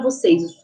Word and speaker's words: você: um pouquinho o som é o assento circunflexo que vocês falam chapeuzinho né mas o nome certo é acento circunflexo tá ele deixa o som mais fechadinho tá Apesar que o